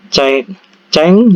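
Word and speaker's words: 책: Jadi tulisannya kan cek 넣는다 gini ya. Jadi dibaca itu ceng 넣는다. Jadi ceng dibaca eng ya.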